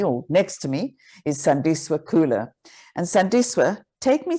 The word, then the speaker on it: Sandiswa: So Sandiswa and Sandiswa would be two different tenses in Xhosa. So Sandiswa is how you say my name, but most people would go Sandiswa. And that just changes because it means to add value. But then if you pronounce it as Sandiswa, it means they added value. So it's like a past tense of me adding value currently.